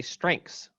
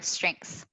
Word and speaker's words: strengths: i agree i don't i don't think i pronounce the th the th in writing the theta in sounds i think i just say strengths i do too strengths strengths yeah but a